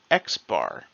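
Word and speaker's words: x̄: here is the mean it's pronounced x-bar because there's a bar over it it's x-bar in statistics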